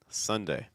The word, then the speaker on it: Sunday: to our first one Sunday Sunday watching off for that schw so it's not Sun son son it's sun sun sun Sunday Sunday okay Monday Tuesday